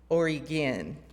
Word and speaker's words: Oregon: heard Portland Maine nope other Portland and it's pronounced Portland Oregon by the way Oregon like gy anyway so